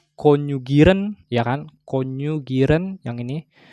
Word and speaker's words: konjugieren: Ini bacanya konjugieren, ya kan?